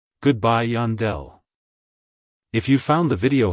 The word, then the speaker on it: Yandel: States it's pronounced as Yandel Yandel Yandel to pronounce it correctly emphasize the Yan and then smoothly transition into the Dell avoid emphasizing the D too much like hello Yandel goodbye Yandell if you found the